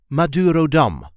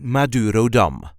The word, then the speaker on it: Madurodam: all of the main attractions in the Netherlands Maduro Dum this is the way we say Maduro Dum Maduro Dum so there is a light emphasis on the last syllable Maduro dum Mur Ro Dum Maduro Dum you can find